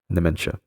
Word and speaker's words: nementia: from ancient Greek uh nine or namin to give what is due plus Latin dementia without mind pronounced nementia.